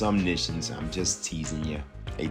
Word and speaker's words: Omniscience: Psych, I know it's pronounced Omniscience, I'm just teasing you.